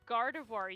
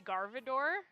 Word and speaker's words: Gardevoir: like what ones uh Gardevoir you say garvador Gardevoir yeah Gardevoir I'm pretty sure that one's right well when you said it there but uh a lot of times you said uh garvador and then whatever my